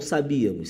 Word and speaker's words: sabíamos: para a tela ao sabíamos sámos Isso aqui é uma proparoxítona a sílaba mais forte é a antepenúltima proparoxítona Só que procurávamos